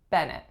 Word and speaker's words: Bennett: next up we have Bennett Bennett two syllables winner is on the first the sound that it makes is at on the first vowel and nut so a schwa on the second syllable Bennett Bennett next up we